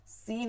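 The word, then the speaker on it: سين: সিন হচ্ছে সিরসির আওয়াজ হবে, সিরসির, সি সি, এবং চিকন আওয়াজ হবে। সদ হচ্ছে সিরসির আওয়াজ হবে কিন্তু মোটা আওয়াজ হবে। সিন হচ্ছে সিরসির আওয়াজ চিকন,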